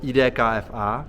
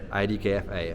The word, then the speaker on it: IDKFA: news obviously something that we in Czech called edfa but in English how do you say ID KFA ID KFA uh they're pretty close to each other check